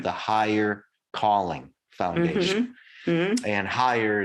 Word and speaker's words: Heyer: And higher is spelled Heyer. It's Kevin Higher.